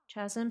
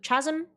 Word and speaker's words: chasm: Chasm silent H is like a deep open space. When you say silent H, does that mean I pronounce it as chasm? I don't know. Chasm?